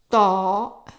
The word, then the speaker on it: طاء: Ta. It's also like a T, but pronounced in the back of the throat.